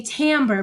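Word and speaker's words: timbre: Okay, tambber is spelled t i m e b r e. Tambber. Even though it looks like timber, we say tambber because it's an Italian word, not an English word.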